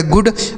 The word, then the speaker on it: good: तो जी से हो जाता है दोस्तों ग, इसे डबल ओ का उच्चारण छोटा ओ की मात्रा डी से पढ़ेंगे ड। इसे पढ़ा जाएगा गुड।